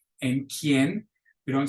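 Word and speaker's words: quien: U is the exception the U is silent after a q think of the word K and kien we don't say que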